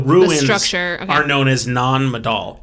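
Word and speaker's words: Nan Madol: word is m-a-d-o-l non-medal i watch a youtube video and a local pronounce it non-adult i'm i'm butchering it with an american accent but you know honestly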